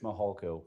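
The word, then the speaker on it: Mihalko: court reporter you bet my name is Mitch mahalco good morning I'm a commander with the El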